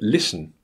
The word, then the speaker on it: listen: In the word listen, you can see that the first syllable, lis, is stressed, and the schwa is in the second, unstressed syllable.